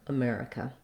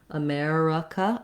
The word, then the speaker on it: America: over there america um so the word uh also sounds like schwa sometimes people will say that as a more typically though native speakers use uh for that that word then the letter i says the lacs if sound or you can even use a schwa again here an uh sound america or america um it doesn't matter